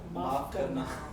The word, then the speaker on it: maaf karna: Maaf karna.